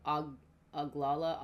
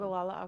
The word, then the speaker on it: Ogallala: zone, but like the what is it the Oglala Aquifer? Is that what it's called? Ogallala Aquifer. How do you say it? Ogallala. Ogallala. That's how I've always Ogallala Aquifer.